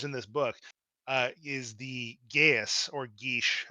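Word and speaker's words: geis: I mean, of all the powers in this book, is the Gaius or Geesh. I forget how the proper I think pronunciation, but Geesh is technically um, correct, but yeah, it's been.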